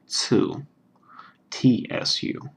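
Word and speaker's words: つ: is Sue this is two TSU like in tsunami that sort of thing um or at the end of the word nuts or cats there's a little it's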